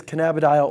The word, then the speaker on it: cannabidiol: CBD is cannabidiol oil. That's how it's pronounced.